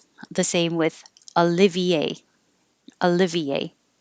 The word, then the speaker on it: Olivier: Olivier would be similar to the English name Oliver.